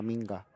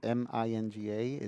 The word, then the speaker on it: minga: Ah, por favor, puedes a limpiar la minga. La minga is m i n g a is is how you pronounce cue ball, minga.